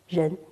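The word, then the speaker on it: 仁: So humaneness, in Chinese pronunciation, ren, the rising tone.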